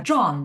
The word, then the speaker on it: Can: John, whose John. name spelled like C-A-N Can.